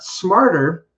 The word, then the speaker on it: smarter: And like I said, Brandon, if you take my pronunciation class, I do cover some of these like pronunciation issues that we do have in English. But smarter is just that.